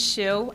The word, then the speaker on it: Shu: Um, my name is Shu. Um, the same pronunciation as the shoe everyone is wearing.